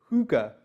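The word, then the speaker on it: hygge: sofas it's about what looks like hygiene but it's pronounced hookah yeah great I got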